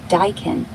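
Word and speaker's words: Daikin: It's spelled D A I K I N like Dykin.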